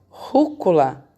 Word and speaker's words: rúcula: Rúcula, a sílaba mais forte da rúcula é o ru.